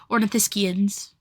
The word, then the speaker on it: ornithischians: Okay, ornithischians? Science? SCH would be ski. Like, yeah, ornithischians.